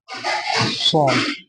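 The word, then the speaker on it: صاد: আর এটা হবে সদ। এটা সদ হবে, উচ্চারণটা কি হবে?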